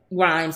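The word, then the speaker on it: Rhimes: a Shonda Rhymes uh is it Rhymes right Rhymes she does ethnic mixtures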